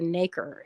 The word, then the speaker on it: nacre: And that kind of raised area is the nacre. It's like, I guess it rhymes with acre, and it's spelled the same way.